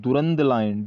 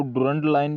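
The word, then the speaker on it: Durand Line: वो है दुरंद लाइन, डुरंड, इसको डुरंड लाइन भी बोल सकते हैं, दुरंद लाइन भी बोल सकते हैं। आप अपने हिसाब से प्रोनाउंसिएशन कर सकते हैं।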